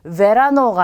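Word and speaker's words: verano: 왜 이걸 강조하느냐 하면 우리 영어에서는 이 글자가 v로 발음이 돼요. 근데 스페인어는 그렇게 약간 느끼한 발음이 없어요. 그래서 그냥 비읍으로 발음하시면 돼요. 자, 그러면 이 글자를 읽으실 때 베라노가 아니라 베라노 하시면 되겠죠.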